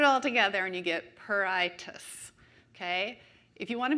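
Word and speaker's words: pruritus: a little Rebus here it's perr like the sound that a cat makes I like your eyeball T which is the T sound and then us which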